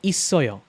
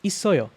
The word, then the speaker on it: 있어요: Because this sound here carries over to this vowel. So pretty much it disappears from under here and it goes over here when you pronounce it.